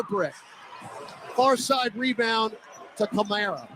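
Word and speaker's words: Camara: I'm thinking of Alvin Kamara, even though this is spelled with a C, but it's actually Kamara. And I'm thinking of Alvin when I'm talking about his name. But in the pronunciation guide, it is Kamara.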